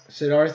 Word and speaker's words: Siddharth: I mean, he's got an H like I do, so Siddharth. Siddharth, yeah.